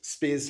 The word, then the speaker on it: Speirs: Yeah, it's it's Spears Finance. Okay. And where did that come from? So, um, Spears, um, to go back, we are originally a